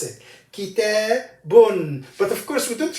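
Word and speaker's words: كتابٌ: So the pronunciation of the tanween is an extra noon with sukoon comes with the tanween.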